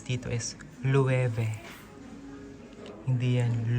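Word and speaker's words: Loewe: ang pagbigkas dito is leve Hindi yan lowe ang pagbigkas po dito sa bag is ang pagbigkas dito sa brand is leve 50,000 yan pang lalaki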